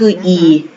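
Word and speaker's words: 一: เสียง ว่า ปี แต่ เมื่อ ไหร่ ที่ มัน เป็น หมาย เลข โทรศัพท์ นะ คะ เขียน ว่า ตัว อักษร จีน เขียน ตาม เดิม นะ คะ เขียน อย่าง นี้ คือ อีก แต่ อ่าน ออก เสียง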